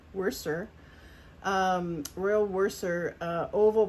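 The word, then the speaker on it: Worcester: is a uh now I always have to think when I pronounce this it's worser worser um Royal worser uh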